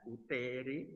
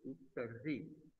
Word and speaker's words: uteri: Ligamentum teres uteri, ya, jangan uteri tapi uteri bacanya, ya.